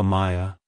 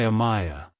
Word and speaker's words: Amiah: to pronounce it correctly emphasize the a sound at the beginning followed by a clear my and a soft ah at the end like hello Amaya goodbye Amaya if you found the